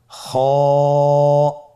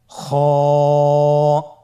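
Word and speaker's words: خ: খ হরফটির মাখরাজ হলো কন্ঠনালীর শেষ ভাগ হতে উচ্চারণ করতে হয়। কন্ঠনালীর শেষ ভাগ। আপনারা আমার সাথে বলুন খ আবার বলুন খ মাশআল্লাহ।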